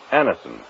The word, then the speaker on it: Anacin: You can get Anison at any drug counter. It's spelled Anacin.